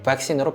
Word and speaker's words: vaccine: 그리고 이렇게 발음을 해보면 영어 단어 vaccine이 정확하게 vaccine으로 발음이 되고 fashion도 영어 발음 그대로 fashion이라고 발음이 되게 되어져 있습니다.